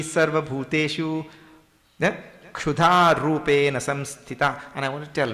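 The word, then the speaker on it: संस्थिता: Samsthita. Because I hear too many different pronunciations down at the end there.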